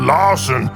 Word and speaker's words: Larson: I'm called Larson because it rhymes with arson.